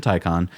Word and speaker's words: Taycan: This is where, the Taycan, the Porsche Hey, you Taycan. said it right the first time. I had to think about it.